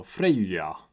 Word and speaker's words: Freyja: The ow changed via J, and hence we have this eu. So Freyja would be a more accurate pronunciation.